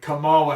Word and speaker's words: Kamala: doesn't have a problem and they're still talking camilla harris talking i'm sorry kamala harris i don't want to mispronounce it because my one of my daughter's